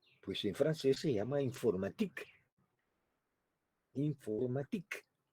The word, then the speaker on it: informatique: Allí, pues en francés se llama informatique. Informatique. El sufijo este ica del español en francés es ike, o como se pronuncia, ic, informatique, allá por 1952.